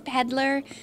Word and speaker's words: Petaller: Yeah, because our name is Peddler. P-E-T-A-L-L-E-R, spelled like flower petal.